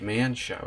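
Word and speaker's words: Mienshao: I keep wanting Mind Show, it's Mien Show, isn't it?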